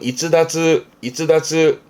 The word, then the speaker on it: 逸脱: 발음은 이츠다츠.